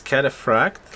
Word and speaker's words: cataphract: It's cataphract, like pharmacy.